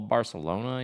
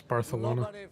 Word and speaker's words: Barcelona: So now maybe it's like a little Barcelona, you know? You said it, man. Pronounced it wrong. It's Barcelona. with the Jesus. You got to have a lisp when you say it.